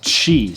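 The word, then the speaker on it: ち: with the last lesson this e sound right here is not a t like a t i it's chi so just like with uh sa shi this was a s h i sound and not an s i sound chi is the same exact way it's not a t i sound it's a chi sound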